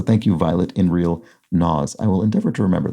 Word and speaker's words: Nas: a minor quibble but the rapper is pronounced nas i'm sorry about that nas i think i've i think i've probably pronounced his name a couple of different ways that we're not correct so thank you violet